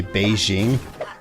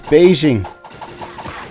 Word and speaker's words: Beijing: Like Beijing. We usually say Beijing. Like the color. Beige. The whole city is Beijing.